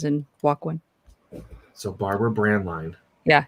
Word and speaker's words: Braendlein: there uh it's pronounced brand line brand like brand cereal and line as in walk one so barbara brand line yeah it's a terrible